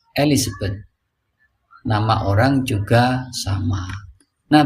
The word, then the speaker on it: Elizabeth: Menyebut raja Inggris bukan Elisabeth. Enggak ada. Yang ada Elizabeth.